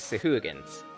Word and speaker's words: Sahuagin: And water thugs, also known as Sahuagins. Yeah, that's actually the pronunciation of it, Sahuagin.